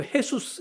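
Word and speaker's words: Jesús: 예수라는 이름이 굉장히 많고 우리 저 국제 축구 경기 같은 거 보면은 그 헤수스 이런 이름 나옵니다. 저기 에스파뇰 그러니까 스페인어 이쪽에서는 J가 H 발음으로 나거든요.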